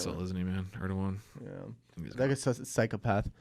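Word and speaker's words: Erdoğan: It's actually Erdogan. Erdogan. Yeah. Erdogan. Yeah. Yeah, that's the guy. The guy in the Trump video said Erdogan, and I wanted to say it's pronounced Erdogan, but he wasn't here. It was a video, so I had to shut up. Yeah, but it's Erdogan because the letter's silent.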